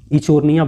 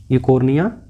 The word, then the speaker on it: Eichhornia: और इसी को हम लोग क्या बोलते हैं, इचोर्निया बोलते हैं। इसको क्या बोलते हैं, इचोर्निया, इकोर्निया या इचोर्निया, क्योंकि इसका स्पेलिंग होता है EICHHORNIA।